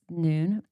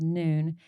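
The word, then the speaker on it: Nuun: One I love is Noon.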